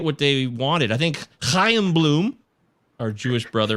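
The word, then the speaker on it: Chaim: they wanted i think cayenne bloom our jewish brother right here i am bloom i'm jewish that's how you say it right there the hayam just like i am that's what it is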